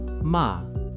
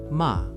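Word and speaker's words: 間: There is a beautiful Japanese concept called Ma — pronounced mah.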